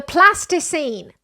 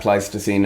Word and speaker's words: Pleistocene: The Plasticine. ...evolved primarily... Pronounce it correctly. ...in this savanna Pleistocene environment.